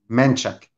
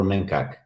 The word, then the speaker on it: Manchak: took their christopher sorry how do you say the last name of christopher manchak manchak i always thought that was christopher mencak no no don't you cut me